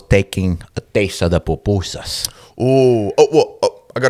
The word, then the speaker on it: pupusa: Papooseas.